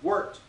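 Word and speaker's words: wort: called worked it's spelled warped w-o-r-t but it's pronounced worked and our liquid malt extract here is basically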